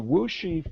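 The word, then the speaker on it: Wuxi: plants um the the wooshy Fab and that's how it's pronounced despite how it it looks in print um that Fab was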